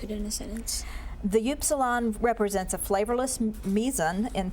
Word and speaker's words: upsilon: Upsilon.